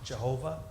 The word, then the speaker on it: Jehovah: then just through sloppiness it begins to be pronounced as a J sound Jehovah and then of course